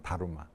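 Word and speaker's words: だるま: 일본은 달마, 일본 발음은 다루마. 일본 분들은 이렇게 받침이 안 되잖아요.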